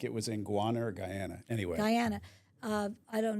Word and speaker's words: Guyana: Am I saying it right? Wait, Ghana is in Africa. Guana. Is that South America? A na. Where is that? Guyana. Guy. That's the one in South America.